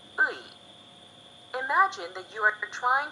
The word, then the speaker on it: 의: And lastly, ui, also written as ui, is pronounced ui.